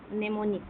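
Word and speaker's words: mnemonic: निमोनिक मतलब यहां पर क्या होता है कि मनेमोनिक निमोनिक ठीक है? एम साइलेंट ये निमोनिक जो होता है इसमें क्या है?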